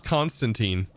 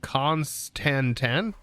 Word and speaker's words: constantan: should have con Constantin I used to call this Constantine and I remember getting just just butchered in the comment section for calling it Constantine I I don't know why I called it Constantine because it is 100% constantan but Constantine is is